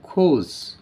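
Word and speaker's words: gorge: মধ্যে নিমজ্জিত হয় খোঁজ এই ওয়ার্ডটাকে আমরা কজ বলি উচ্চারণ করার সময় কিন্তু এটার প্রকৃত উচ্চারণ হবে খোঁজ দা খোঁজ অফ দা ক্রাশ এই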